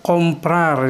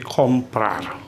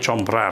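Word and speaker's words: comprar: komplar yang artinya membeli perhatikan ini huruf c itu kalau diikuti dengan huruf o seperti ini juga nanti kalau diikuti dengan a dan juga u maka dia c itu akan diucapkan seperti Kak gitu kak ya karena itu karena C diikuti o maka berbunyi sepertiga Jadi kompar bukan Chopra ya kemudian kata Inggris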